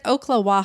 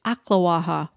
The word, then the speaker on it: Ocklawaha: was pretty amazing and you said oklahoma i've been saying it like that too it's aklawaha oh it's ocular because they